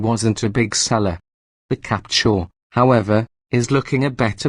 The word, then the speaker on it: Captur: despite the missing e its name is pronounced the same as the word capture and Renault hopes it